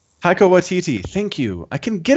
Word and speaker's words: Taika Waititi: director, I can't say his name properly, but Taika Waititi. Taika Waititi.